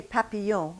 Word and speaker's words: papillon: Now say papillon with the same English mouth that you have